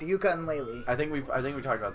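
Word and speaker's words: Yooka-Laylee: A fucking ukulele trailer got released. What the fuck is ukulele? Ukulele is about... Oh, yeah, yeah. Wait, No. I lied. It should be pronounced yuka and lele.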